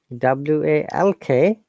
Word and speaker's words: walk: long sound work and walk this is short sound walk i'm walking on the